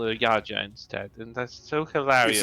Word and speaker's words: Jadzia: So whenever they said Jadzia, I was like, "This is Yaja.